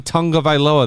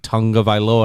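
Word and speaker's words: Tagovailoa: alabama i was like why are people saying tonga vaila that's not his name and then they interviewed him how do you say your name he's like tonga viloa and i was like you're lying it's tonga violin tongue of island so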